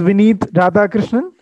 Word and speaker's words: Vineeth Radhakrishnan: My name is Vineeth Radhakrishnan.